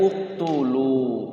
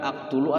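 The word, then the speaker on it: اقْتُلُوا: Berarti bacanya uktulu, bukan aktulu atau iktulu.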